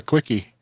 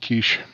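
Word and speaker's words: quiche: said I'll have a quickie she slaps me and walks off turns out it's pronounced Kish oh oh here's one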